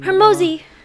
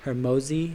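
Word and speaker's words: Hormozi: And so the phrase that I actually drew from was this Alex, I don't know how to say his last name. Hermosi. Hermosi. It's spelled Hermozi.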